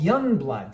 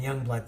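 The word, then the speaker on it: Yungblud: of, similar to Sleep Token, a guy called Young Bloodood, spelled Yu, as I learned later.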